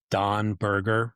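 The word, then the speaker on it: Dan Berger: And it's by a guy named Don Berger, but it's spelled Dan.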